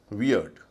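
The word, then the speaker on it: weird: डब्ल्यू ई आई आर टी वियर्ड।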